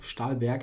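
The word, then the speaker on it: Stahlberg: 1920s and 30s um stalber to to pronounce it uh with the German FL flavor stalber I think he was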